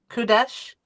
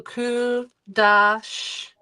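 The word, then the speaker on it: קדש: So c uh kuda kudos kudesh. No. So that's that's a short a vowel. The short a vowel. So kudash. Correct. Kudash.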